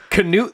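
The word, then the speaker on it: Cnut: oh you laugh now his name is spelled c-n-u-t charisma nerve uniqueness and talent knut the great uh had a law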